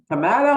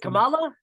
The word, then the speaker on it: Kamala: Kamala or Kamala? Is it Kamala?